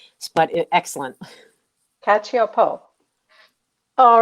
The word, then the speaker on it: Cacioppo: It's Cacioppo, or in Italian it would be pronounced Cacioppo, but excellent. Cacioppo.